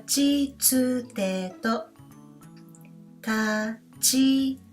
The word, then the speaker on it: ち: Instead, we have Chi sound. So this hiragana letter represents the pronunciation of Chi and not T.